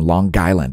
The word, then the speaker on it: Long Island: from Long Island from Long Island yeah you got to pronounce a hard G Long Island toward Nantucket